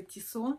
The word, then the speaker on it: Tissot: Спасибо огромное, кто мне подписал, что не читается последняя буква Т. Это швейцарские часы и читается только Tissot.